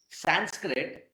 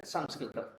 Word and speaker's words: Samskritam: For example, the very language Samskritam we write it in English and then very casually we start calling that language itself as Sanskrit rather than Samskritam.